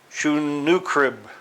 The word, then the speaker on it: Sennacherib: It's not pronounced the way it looks. Trust me on that one. Sennacherib. I mean, it's spelled like Sennachierib, but it's pronounced Sennacherib.